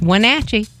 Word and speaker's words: Wenatchee: Well, I know we would love to see you here in Wenatchee, in case you didn't know how to say it. It's Wenatchee.